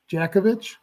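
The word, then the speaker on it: Dziekiewicz: that's funny so your last name is spelled d-z-i-k-i-e-w-i-c-z but it's pronounced Djokovic jakovich you you knew that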